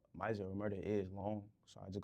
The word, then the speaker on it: MazziOmerta: Like they call me Mazzio. Like I don't even know where the hell you get that shit from. Like, or they'll be like, Omerta. Like it's just all the time.